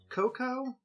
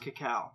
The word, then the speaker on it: cacao: de cacao next and I've heard people say it's pronounced cocoa I've always heard it pronounced cacao so pronounce it cacao